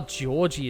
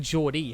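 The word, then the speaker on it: Jorji: Oh, Georgie is how it's pronounced or George E. Okay. I've been saying George E, haven't I?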